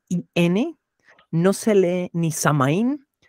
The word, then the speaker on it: Samhain: El origen del Halloween, el proto Halloween, esta fecha se lee Samhain. Samhain.